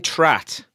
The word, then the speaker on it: Trat: hang on a minute Jonathan trat rhymes with Pratt I think he's from